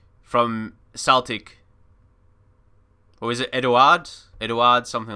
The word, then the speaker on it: Edouard: Or is it Edouard? Edouard, something like that. Or because he's French, it could be like Edouard. Not pronouncing the D.